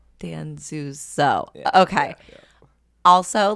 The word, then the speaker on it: Danzuso: But no, it's Danzuso. Danzuso.